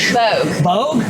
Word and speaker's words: Bogue: So they call this place, they pronounce it Bogue? Bogue. Bogue?